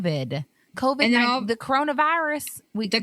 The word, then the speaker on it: COVID: Because she kept saying it wrong, and I'm like, she says Covic the whole time, and I'm the whole time COVID, and then the coronavirus.